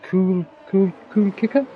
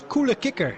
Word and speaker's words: Coole Kicker: And I suppose Cool Kicker? Cool Kicker? Yeah, it's a Dutch name. It's Coole Kicker. So great to be a Dutchman at the moment.